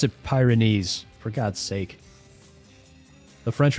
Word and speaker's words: Pyrenees: P just say just pronounce it Pyrenees for God's sake.